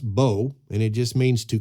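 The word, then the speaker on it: בוא: It's pronounced bo, and it just means to come in or to bring in a harvest.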